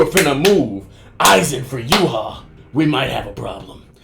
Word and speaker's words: Yhwach: Now I've seen multiple different pronunciations for this character. I've seen Yhwach, I've seen Yhwach, I've seen Yhwach, I've seen Yhwach, I've seen so many pronunciations. I'm just gonna go with the Japanese pronunciation so far of Yhwach, and we can go from there.